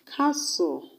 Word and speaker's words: castle: is on silent letters silent letters examples of words that have silent letters are listen whistle castle the t's are silent when you have s and t together in a word when you have t